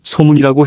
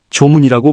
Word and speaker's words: 소문: 또 경북 의성의 옛 이름을 소문이라고 해야 하는데 발음상의 어감 때문에 조문이라고 불렀다. 소문이 맞다는 연구 내용과 함께 전시를 했다.이 특별전 역시 지자체에서 박물관을 설립하게 된 계기가 됐다.